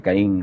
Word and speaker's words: Caín: el vehículo de entonces lo que ahora se tiende a pronunciar kein en Inglaterra más que Caín como en español carteles y bohemia estaban